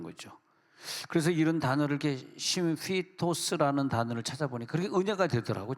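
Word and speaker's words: σύμφυτος: 연합하다는 단어를 찾아보니까 심 심피토스 심피토스 이게 이게 이게 예 파이가 아니라 피이기 때문에 f 발음 나야 되거든요.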